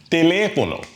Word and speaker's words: teléfono: Teléfono. Teléfono. It is in a vowel. So we'd expect the second to the last syllable to be stressed.